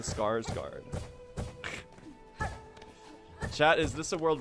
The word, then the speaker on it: Skarsgård: The Scar Guard. That do be how people pronounce his name though. It's the Scars Guard.